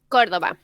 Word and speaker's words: Córdoba: She comes from, is it Cordoba, or do you pronounce it Cordoba? Córdoba.